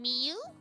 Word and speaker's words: Miu: So, in a girl's name, it's often read as u, like the letter u, but the Japanese u is more like an oo.